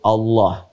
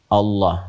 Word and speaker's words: Allah: A lagi, kemudian H, dibacanya tetap mengembalikan kepada diksi aslinya, tulisan aslinya dalam bahasa Arab, yaitu Allah, ingat ya, Allah.